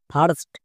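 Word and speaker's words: first: sound দেই যেমন এফ আই আর এস টি ফার্স্ট এস এইচ আই আর টি সার্ড এস আই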